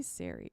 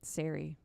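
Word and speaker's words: Sarry: I'm gonna say Siri. It's his wife's name is spelled S A R R Y.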